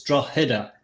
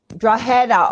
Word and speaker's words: Drogheda: is silent, believe it or not. So it's like a H. It's Drogheda. Drogheda.